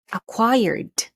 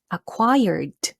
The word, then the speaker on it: acquired: word is this one acquired acquired okay make sure that you pronounce the letter d d at the end because this is past tense let's say it one more time acquired very good all right